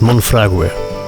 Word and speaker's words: Monfragüe: Richtig ausgesprochen heißt dieser Nationalpark Monfragüe. Also im Rahmen meiner Möglichkeiten. Die Punkte auf dem U am Ende zeigen an, dass das U mit ausgesprochen wird.